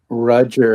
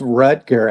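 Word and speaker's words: Rutger: Roger. Is that spelled like Roger? It's Ruter actually.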